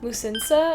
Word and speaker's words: Musinsa: It's called Musinsa, I believe is how you say it.